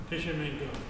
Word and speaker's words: Tishomingo: and you were born in Mississippi, but somebody pronounce that name for me. Tishomingo.